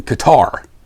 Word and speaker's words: Qatar: uh in the airport in Qatar or Cutter however you want to pronounce it there was one place